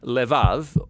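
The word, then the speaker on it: לֵבָב: word in this prayer heart which in Hebrew is sometimes pronounced levav or more often in a shorter form Lev now different cultures throughout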